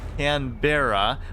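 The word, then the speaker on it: Canberra: and just garbage because you Americans over pronounce your RS canbera but there's two RS I'm over I'm not over pronouncing I'm just adequately pronouncing uh like Brisbane but that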